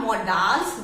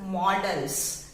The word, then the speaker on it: models: If you are doubtful, you can check the pronunciation anywhere. So this is not modals, this is models, right?